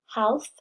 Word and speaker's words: half: Half has a silent L. We don't say half. The L is silent, so we just say half.